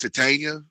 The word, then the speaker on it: Titania: __ ] that up technically it's pronounced titania but that's not a